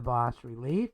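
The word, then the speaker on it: bas-relief: And the goal is, how do you use an image of the boss relief? That's boss spelled B-A-S dash relief. And so, but it's pronounced boss relief.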